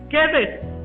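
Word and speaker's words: Cedes: Está escrita con C de casa, pero investigué y se pronuncia Quedes. Es Quedes en Galilea, en el monte de Neftalí.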